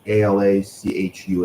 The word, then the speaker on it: Alachua: uh Alachua County I don't know if I'm pronouncing that correctly ala Chua ala Alachua yeah that was a that was